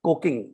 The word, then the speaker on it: coking: petrol and diesel they have custom duties on coking that's not a spelling mistake that's the way it's pronounced it seems like you're from the engineering